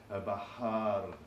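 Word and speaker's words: البحّار: sound with the short one, it would be al-bahar, al-bahar, which means a sailor, the sailor, al-bahar, the sailor, al-bahr, the sea, al-bahar, a sailor.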